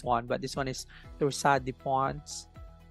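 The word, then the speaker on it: torsades de pointes: but this one is Torsade de Pons. It's a French term for heart problem. Torsade. If you're American, you can actually pronounce the S. Torsade de Pons.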